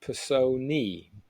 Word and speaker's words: Personae: it right this time, it is apparently pronounced Personae, which sounds wrong to me. But maybe A and E is an E sound.